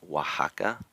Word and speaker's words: Oaxaca: sound so like mexico another word is oaxaca spelled with an x so it can have that h sound for kind of traditional